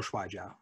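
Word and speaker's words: 摔跤: Yeah, I've learned a little Shuai Jiao.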